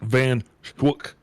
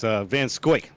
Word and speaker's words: Van Scoik: Charles Duck Van Schwook. Yeah, I'll get it. I'm sure that we will. It's Van Scoik is how we pronounce that last name, and we will make sure to get that right.